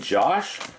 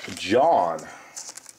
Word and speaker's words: John: Did I keep saying Josh? It's called John. It's spelled John Brown.